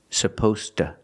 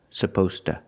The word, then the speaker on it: supposed to: and remember the pronunciation supposed to supposed to to is not a stressed word so we pronounce it like that t to relaxed supposed to he's supposed